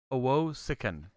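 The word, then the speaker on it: Owosekun: Owo Sikan. Yeah. Three Owo-sikan.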